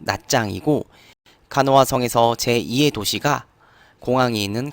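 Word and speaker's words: Nha Trang: 성에서 가장 큰 도시가이 나트랑 현지 발음으로 낱장이고 간호화성에서 제2의 도시가 공항에 있는 캄라니 그래서 나트랑 공항을 검색하면 캄란 국제공항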